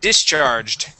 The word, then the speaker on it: discharged: nice job okay let's go to the word discharged uh right here discharged dis charge good instead of discharge using an e sound D it is D short I discharged discharged all right excellent okay let's go to